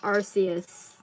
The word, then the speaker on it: Arceus: people pronounce Pokemon names it's Arceus it's just that they realize that when a British person when a British person says RC as it sounds like asius so they changed it yeah exactly the